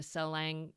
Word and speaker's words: Salang: I wonder if you might just want to describe this I don't know if I'm going to say it right, but the Salang Tunnel?